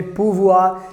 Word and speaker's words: pouvoir: model verb and that's called in french language pronounced in the same way purvua and the meaning is to can and to